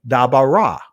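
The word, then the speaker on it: דבר: the true ancient Hebrew, instead of saying dabar, it would be dabara, right? As you see, dabara. As people became more fluent in speech, they pronounced words as a whole, and accent naturally shifted to penultimate position. So da bara, right? So the accent is being placed in the middle, the in the middle.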